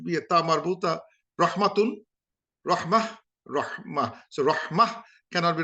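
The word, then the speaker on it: رحمة: Yeah, because if we just say rahma, we don't pronounce the last ha. Let's say we wrote rahma.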